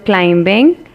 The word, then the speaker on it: climbing: So the silent letter is in the word climbing, and the word that is silent is B.